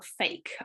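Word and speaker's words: PHEIC: apparently i've been told fake is the correct pronunciation of the person who coined the name um in late january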